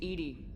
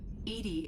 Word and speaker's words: EDI: why are you named edie edie is the phonetic pronunciation of e-d-i that is an acronym